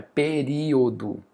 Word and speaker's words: período: Eu não falo pe perio. Pero, não faz sentido. Então é período.